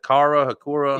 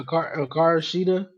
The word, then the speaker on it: Hikaru Shida: Hakura? yeah, Hikaru Shida.